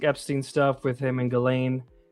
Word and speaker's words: Ghislaine: stuff with him and Ghislaine, which is how you pronounce her name, believe it or not. For the longest time I was saying Gishlaine, and it's not that.